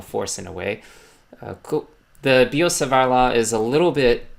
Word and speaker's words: Biot-Savart: in this case is the Biot-Savart law, or I don't like to pronounce the letter T, law.